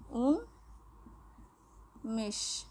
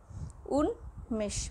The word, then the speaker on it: উন্মেষ: যদি আমরা দেখি উন্মেষ, দেখো এর সাথে নয়ের সাথে ম রয়েছে, এখানে নয়ের সাথে ম রয়েছে, কিন্তু মফলাটা কিন্তু উচ্চারিত হচ্ছে উন্মেষ, উন্মেষ, মফলা উচ্চারিত হচ্ছে।